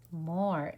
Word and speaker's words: more: in math a lot more m-o-r-e it has a silent e we kind of get more more that means